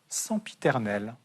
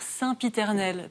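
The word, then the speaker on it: sempiternel: prononciation et par exemple on dit pas sans piternel, on dit quoi alors ? On est censé dire saintiternel comme agenda consensus. Quand on a le en qui vient du latin et bien on est censé le prononcer un bon et puzzle.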